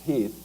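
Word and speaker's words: Heth: Lee's intent actually is to kind of let General Heath, it's spelled H E8, but it's pronounced Heath, to do a little bit of recounting, thinking that you might just run into some local militia when you head towards Gettysburg.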